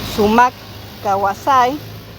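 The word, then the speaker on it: sumaq kawsay: Em, la idea de del buen vivir, les digo de cómo se pronuncia en quechua. Es sumac Kawasay en Quechua y Sumac Camañá en Aimará.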